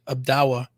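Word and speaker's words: Odawa: Is it Dalway? It's the name of a tribe. I think that's from Michigan. I can't pronounce it right now. Well, I up believe it's north. Dogman. Oh yeah, up north toward Traverse City and stuff. We have the Abdawa. They're called the Abdawa tribe.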